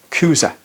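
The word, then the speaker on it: Chuza: Johanna the wife of kuza i' I've always pronounced him incorrectly but it's kuza and he is herod's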